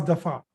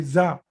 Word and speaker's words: ض: We mispronounce in Urdu the letter dad. It should not be za. The pronunciation of letter dad should not be like za, like z. Okay. It should be, the pronunciation should be da.